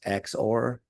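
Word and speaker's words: XOR: So you can say X, and this is sometimes pronounced X or.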